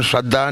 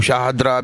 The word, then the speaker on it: शारदा: यहाँ हैं, तो जैसे नाम का प्रोनाउंसिएशन श्रद्धा नहीं है, एंकर जी ने बोला शारदा, एंड कई लोग इसको शाहदरा भी कह रहे हैं, वो भी गलत है क्योंकि अवेयरनेस की कमी है।